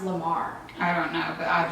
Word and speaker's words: La Mer: And I want to try the new La Mer, but I heard it's pronounced Lamar.